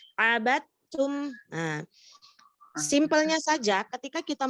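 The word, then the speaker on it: عَبَدتُّمْ: Jadi bukan abadetum tetapi abatum.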